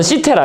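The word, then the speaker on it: Κύθηρα: 그러니까 이게 키테라 또는 시테라, 그죠? 발음 이제 C니까, 그죠?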